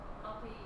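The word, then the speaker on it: بقيع: The graveyard in Medina is called Baqi'. But good, because that's how most, if you're not an Arabic speaker, then you pronounce it like that. You say Baqi.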